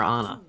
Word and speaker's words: Ana: Is it Ana or Ana? It's Ana.